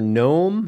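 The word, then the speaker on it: Noem: option okay yeah um your Governor uh Governor gnome is that how you say her name yes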